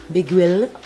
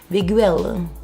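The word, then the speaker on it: Beguile: So what I'm using now is the MAC brow set, and this is in color Biguille. Am I okay, or like, are they making these words really hard to pronounce? Biguille.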